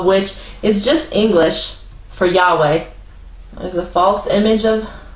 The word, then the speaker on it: Yahweh: h368 now it says YH wh which is pronounced Yahweh it says Jehovah then it says it's the